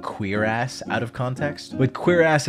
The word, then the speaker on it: cuirass: And then you've got cuirass. You better f***ing listen. Cuirass.